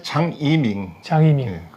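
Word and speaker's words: 张一鸣: 창업주는 이제 중국 발음으로 이제 장이밍. 우리가 이제 한자식 표기하면 장일명인데 그 베풀장자하고 한일자에다가 이제 울명자를 쓰는 그 장일명입니다. 근데 중국식 발음으로는 이제 장이밍이라고 이제 부르고 있죠.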